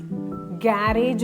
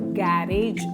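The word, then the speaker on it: garage: ആർ എ ജി ഇ ഗാരേജ് അല്ല നമ്മൾ എല്ലാവരും മിസ് പ്രൊനൗൺസ് ചെയ്യുന്നതാണ് ഗാരേജ് അല്ല ഗരാജ് ഗരാജ് രണ്ട് സിലബിൾ ഉണ്ട് സ്ട്രെസ്സ് ചെയ്യേണ്ടത് ഫസ്റ്റ് സിലബിൾ ആണ് ഗരാജ്പിഇടിആർ എൽ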